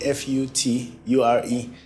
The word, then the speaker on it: Fewchore: h o r e right but it's actually f u t u r e in terms of the pronun pronunciation so it's future right so at the